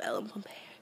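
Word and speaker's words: Ellen Pompeo: Gray's Anatomy because ugh I just love love Ellen pompe that's how you say her name oh and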